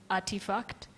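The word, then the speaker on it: RTFKT: reference a company called artifact but the way they spell their company is is very interesting it is RT RT F KT but they pronounce it as artifact now artifact in 2021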